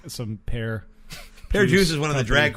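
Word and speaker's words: Per Djoos: Pear Juice is spelled PER space DJOOS. Pear Juice.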